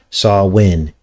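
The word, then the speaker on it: Samhain: Well, it's a Celtic pagan festival of Sawin, which is actually spelled S A M H A I N, but it's pronounced Sawin.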